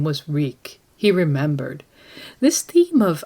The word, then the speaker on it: Reek: here's a passage reek my name is reek it rhymes with Bleak he had to remember